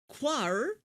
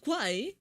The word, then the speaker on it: Kwai: How did he pronounce it? Quar? So it's not Kwai?